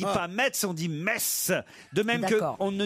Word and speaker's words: Metz: j'ai remarqué que si vous cher laurent vous prononciez correctement metz ce n'est pas le cas de tous vos chroniqueurs christine bravo dit m on ne dit pas mais ce sont 10 messe de même qu' on ne dit pas freyming